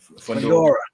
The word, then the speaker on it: Fundora: How you pronounce his name? Yeah, Fundora.